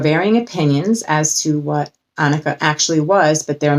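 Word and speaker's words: onycha: have two more left annika i believe it's pronounced annika then the lord said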